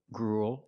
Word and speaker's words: gruel: We see with the first three, they're pronounced pretty much the same. Cruel, gruel, and duel. They all have the oo sound plus a dark L, ool, like pool and cool.